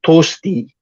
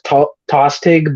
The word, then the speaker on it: Tostig: of Godwin's Sons named tosti you might know him as tostig but that's not how you pronounce his name is uh because Old English is funky that way um yeah and uh